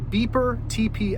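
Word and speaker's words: Bipper Tepee: big three in france and this vehicle the pronounced beeper tp outdoor it's a smaller van suv type vehicle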